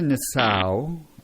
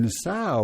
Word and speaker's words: Nassau: fun that's fun n i i pronounce that Nassau me too I've never heard it said that way okay you know no